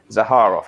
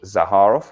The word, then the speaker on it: Zaharoff: Zaharov. I think I got that. It's a hard har. It's a hard har. Zaharov. Okay, Zaharov fragrances, which is, of course, headed up by the wonderful George Zaharov, one of my previous guests.